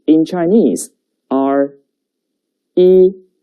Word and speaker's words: 一: And the pronunciation is 一. 跟我读一.